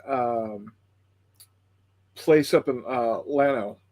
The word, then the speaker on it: Llano: place up in uh llano it's it's pr it's spelled yano llano but in texas we pronounce atlanta because we're a bunch of hicks and there's a pla